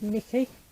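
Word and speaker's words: Necchi: brand and uh and it's pronounced nikki and they're made in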